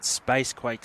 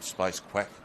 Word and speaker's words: Spacequake: Spacequake Sports. Spacequake, rightio. I think I called him Space Quack once, but Fair chance.